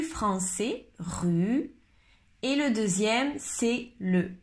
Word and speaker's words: rue: Ok, maintenant la différence entre ces deux mots, rue, rue, rue et roue, roue. C'est un peu difficile à écouter.